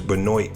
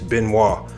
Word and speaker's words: Benoit: Now, a lot of people, and even a lot of 90s fans will pronounce this guy's name wrong. They'll say his name is Benoit Benjamin.